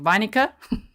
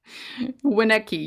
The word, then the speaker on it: Winnecke: Vinica? Which pronunciation police just rolled in? Winnecke. You want me to say Winnecke? It's a German descent surname.